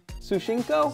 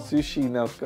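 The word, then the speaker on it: Tsuchinoko: Sushinko? Sushinoko. Sushinoko. According to sightings of Sushinoko, it's essentially a fat snake that's been rolled by a rolling pin, and it sort of inches forward.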